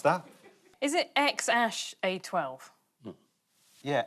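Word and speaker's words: X Æ A-12: Anyone want to have a stab at how to pronounce that? Is it X-Ash A12? Yeah, X-Ash, Archangel 12, Musk.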